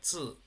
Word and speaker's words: 字: Entonces, este carácter, el del medio, zi, que se pronuncia zi, z y tono 4, significa carácter o escritura, ¿no?